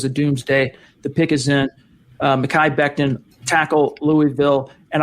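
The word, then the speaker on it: Mekhi: it's gonna be Makai is that how you pronounce it makan it's not Miki Makai Becton on the vine where'd he go hold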